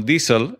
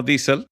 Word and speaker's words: diesel: di cuenta de que lo que en las Américas se pronuncia como diesel El combustible llamado diesel en España se pronuncia diesel y yo creía que